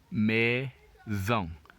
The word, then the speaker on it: maison: Remember, when S is always as a single letter in the middle of a word, it is pronounced Z. When it's a double letter, that's when it is pronounced as normal S.